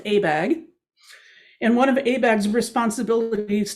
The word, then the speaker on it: ABAG: It's the San Francisco Bay Area's regional planning agency is called the Association of Bay Area Governments, and it's pronounced ABAG.